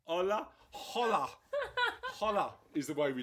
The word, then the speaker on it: Hola: silent h a it's a silent h it's a soft H it's a soft H